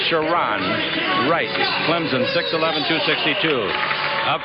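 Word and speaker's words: Sharone: in the middle here is sharon wright it's pronounced sharon wright clemson 611 262.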